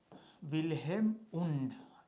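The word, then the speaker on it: Wilhelm Wundt: हैं, विल्हेम नाम है इसका, इस तरीके से स्पेलिंग होता है, थोड़ा देख लीजिए ऐसे, विल्हेम वुंड।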